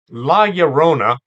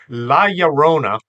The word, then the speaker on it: La Llorona: They think that the double L is pronounced like a double L, and they try to pronounce it that way. It's pronounced like a Y. La Llorona can be seen or actually heard any time of the year.